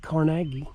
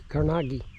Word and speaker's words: Carnegie: We're at Dungeness, one of the ruins of the Carnegie's family, or as they pronounce it, Carnegie.